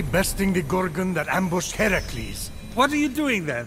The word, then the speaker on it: Heracles: So, Phoenix, after boldly besting the Gorgon that ambushed Heracles...